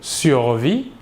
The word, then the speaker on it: survit: Le S et le T final de la terminaison ne se prononcent pas, mais s'écrivent.